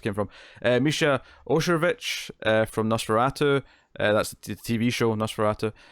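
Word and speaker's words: NOS4A2: but I mean that's how you pronounce that show title, right? Nosferatu.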